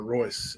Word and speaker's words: Royce: were there uh absolutely not um hois gracie spelled with an r royce it's let me put it in here for